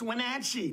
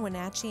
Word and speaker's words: Wenatchee: Make sure they pronounce the name of our town correctly. It's Wenatchee, not Wenatchee.